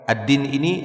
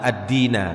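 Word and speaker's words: الدِّينَ: itu anak akhlastulillah addina dibacanya fathah makanya itu Antum lihat addin itu di harokati fathah bukan kasrah atau dhomah ya bukan addinu bukan ad Dini tapi ad-dina karena dia masukkan dia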